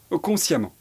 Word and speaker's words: consciemment: Pour former l'adverbe, on va remplacer ENT par amant qui s'écrit EMMENT. Apparent va donner apparemment. Patient va donner patiemment. Évident va donner évidemment. Conscient va donner consciemment.